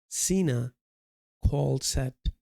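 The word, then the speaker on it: cinacalcet: So this syncol set would sensitize CSRs to circulating calciums leading to decrease in PTH pronounced cena called set cena for sensitizing uh calcium channels.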